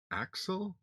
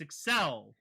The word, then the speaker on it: Accel: that axle but it's Excel it's a word excel for accelerate it's pronounced excel in the Japanese because that's just the way the language works but it is spelled